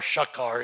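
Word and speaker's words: שחר: So it is um Lucifer son of the morning is Ben Sahar or Shakar it's pronounced.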